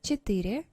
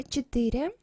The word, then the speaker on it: четыре: Number четыре, stress is here, and about these two letters. When we pronounce it, we say E here, almost E, something between yeah and E actually, but it sounds more like E. So not четыре, but четыре, четыре, almost like E here.